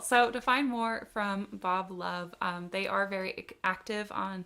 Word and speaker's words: BXB Love: of the artist, of Bob Love. Again, that's BXB Love. I'm so glad I looked up how it's pronounced, because I absolutely would have come on here and said BXB Love before.